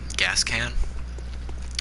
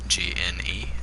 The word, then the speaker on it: Gascoigne: I've heard some people pronounce his name Gascan, and, well, I don't want to be rude. His name is not Gascan.